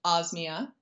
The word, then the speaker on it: Osmia: I think the one thing I wish everyone knew about Osmia, other than the fact that it's pronounced Osmia, is...